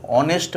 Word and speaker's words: honest: Umbrella একটি ছাতা, অ্যান অনেস্ট ম্যান একজন সৎ মানুষ। এইখানে অ্যান অনেস্ট ম্যান কেন বলা হয়েছে? এই এইস উচ্চারণ হয় না, সেই জন্য তারপরে কি আছে?